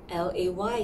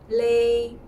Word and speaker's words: Légère: So it will sound something like the first sound of the Mandarin syllables. Lay. Alright. The second word, I would think more like a J-A-Y sound first. Alright, coupled with the Mandarin fourth sound, which is like a downward sound.